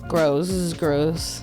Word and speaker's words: Grosz: with my friend, Grosz. You got it. Oh man, I butchered that. I'm so sorry. No, you're good. You actually, that was perfect. Exactly how it's supposed to be pronounced.